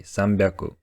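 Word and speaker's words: 三百: Kyu Haku Sanju go it seems simple but unfortunately there are some exceptions do Japanese people pronunciation of 300 600 and 800 seem difficult because to do so you had to say two syllables with voiceless consonants in a row so they made it easier to pronounce them by making 100 sound different this means that to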